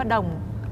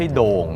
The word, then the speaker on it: ดอง: มั้ย ฮะ เอ่อ มัน จริง ๆ คน เวียดนาม จะ ออก เสียง ว่า ดอง เสียง โอ สั้น ๆ อ่ะ ค่ะ ดง ดง ไม่ ใช่ โด่ง ด้วย ไม่ ใช่ ไม่ ใช่ โด่ง ไม่ ใช่ ดอง